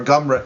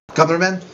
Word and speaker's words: Grumman: So, what do you think of the Northrop Grumman, or Gumren? How do you say that? Northrop Grumman with it. Grumman.